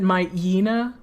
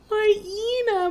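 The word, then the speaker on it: Mightyena: but people say rayquaza i said my ina for years like mighty yana for so many years because i never double checked how it was spelled oh no my diana mighty yana my ena makes more sense p at least that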